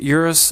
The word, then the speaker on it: Urus: So guys, after extensive research, this is how you say it. As urus. It really is urus, so we're not getting scammed.